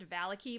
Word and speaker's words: Vallaki: straw entertained this is Game three onward to VALIC I I realize it's actually pronounced Valley key but I hate that pronunciation so we're going